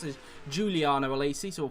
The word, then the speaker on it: Giuliano Alesi: Giuliano Alesi out there as well, or in fact I found out it's actually pronounced as Giuliano Alesi, so we'll call him that from now on, Giuliano Alesi.